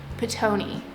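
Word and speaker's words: Ptoughneigh: I guess you would say quartet, including their bunny Twitch, which Brian has renamed to Tony, but it's not spelled T-O-N-Y, it's spelled P-T-O-U-G-H-N-E-I-G-H. Petoni.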